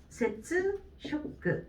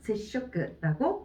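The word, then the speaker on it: 接触: 그러면 이 두 개의 발음을 합체를 시켜주게 되면은 세츠, 쇼크 이렇게 읽는 게 아니라 얘를 또 초금으로 바뀌어줘야 되겠죠? 세쇼크라고 읽어주시면 돼요.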